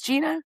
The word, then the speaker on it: Jeana: It's Gina.